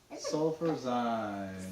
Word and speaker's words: Sulfurzyme: How do you pronounce it? Sulfurzyme. Sulfurzyme.